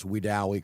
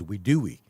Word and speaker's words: Wedowee: And it was pronounced on national television as Wedowee.